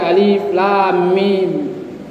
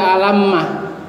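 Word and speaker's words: الم: Kenapa dibaca alif lam mim? Bukan dibaca alammah. Karena yang pertama berlaku bunyi huruf.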